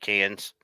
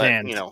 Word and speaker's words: Cannes: I've always said cans, but Cannes.